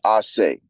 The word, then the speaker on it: Ace: So being that my real name is, and my last name is, H-A-L-L, the pronunciation for ACE is not really Ace. It's supposed to be Ase, right?